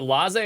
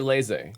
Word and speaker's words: laissez: Is it laissez or laissez?